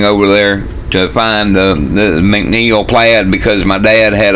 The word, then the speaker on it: MacNeil: The fact that this came from Scotland means a lot to me too, because with a name like McNeil or MacNeil as it's pronounced over there, where else could I be from except maybe Ireland?